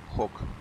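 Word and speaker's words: Hawk: как всегда на хавке правильный по-моему читается хок Да меня для меня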